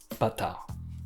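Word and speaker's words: バター: Il se prononce bâtard. C'est un peu comme bâtard, mais sans R à la fin.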